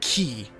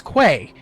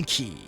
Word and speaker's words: quay: It's pronounced key.